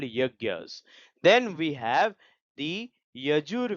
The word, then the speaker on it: yajnas: So yajnas it is not pronounced as yajnas these are called yagyas.